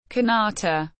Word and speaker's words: kanata: In Inuktitut, one of the official languages of the territory of Nunavut, the First Nations word, pronounced kanata, is used, with the Inuktitut syllabics.